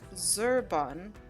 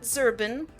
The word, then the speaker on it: Zerbon: Uh, your character's name is pronounced Zer Zerbon. Not not zerbin. Zerbon.